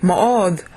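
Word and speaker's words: מאד: Me'od, when the D doesn't have a dagesh in it, you have to say it like DTH, so it's me'od.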